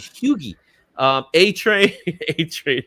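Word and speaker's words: Hughie: the CIA team um Hugh hugi Campbell that's what it is hugi um a train a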